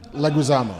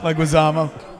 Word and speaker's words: Leguizamo: Leguizamo. Leguizamo.